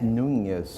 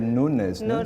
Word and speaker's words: Nunes: announcement i'm sorry for saying your last name wrong it's nunes i said nunes is in brazil i'm so